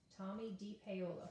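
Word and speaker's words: Tomie dePaola: up how to say his name d paola tommy d paola who passed away recently once upon a time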